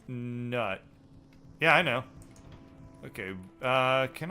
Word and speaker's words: Nut: stars but it's not which is sad it's pronounced nut yeah I know okay can I put that